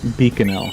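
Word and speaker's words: Bikanel: Beaconell.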